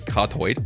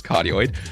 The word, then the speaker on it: cardioid: That mic works for suppressing or getting rid of the background noise isn't because it is a cardioid, or actually pronounced as cardioid.